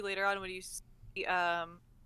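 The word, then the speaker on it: Harah: I think you see that too later on when you see Herrera. Hera? How do we want to pronounce? I think it's just Hera.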